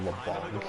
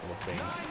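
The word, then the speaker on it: Labanc: I like how the guy pronounces him as Kevin LeBlanc. It's LeBlanc.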